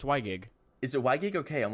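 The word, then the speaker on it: WiGig: I don't really know how to pronounce it. I think it's Wygig? Yeah, it's Wygig.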